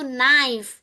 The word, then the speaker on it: knife: Ya, sama kayak kita bilang pisau itu knife. K-nya enggak boleh dibaca.